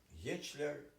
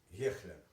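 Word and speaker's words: Hechler: Фамилию произносят двояка: Гечлер и Гехлер.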